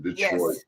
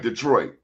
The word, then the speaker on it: Detroit: It was more like Detroit. Detroit. I don't say Detroit. It's Detroit. It's all one syllable. Detroit. 2 syllables. Detroit. It's not like an extra whatever.